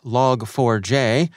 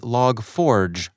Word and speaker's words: Log4j: for shell vulnerability with some saying it's log 4j and others proclaiming no fyi it's actually log forge thank you very much